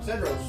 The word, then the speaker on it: Cedros: Okuma Cedros.